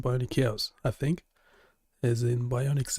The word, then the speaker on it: BioniChaos: You can just Well, first it's pronounced pronounced bionic chaos, I think, as in bionics is biology and electronics.